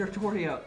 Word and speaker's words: Artoria: stuff and then they they pronounce it artoria and artoria makes sense because atoria is derivative of artorias which is where the name arthur comes from that's like the